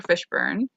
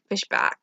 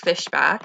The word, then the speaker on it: Fishback: i think fishback or fishburn she related laurence fishberg no no no i'm getting her last name wrong dominique fishbach yeah dominique fishbach and she killed it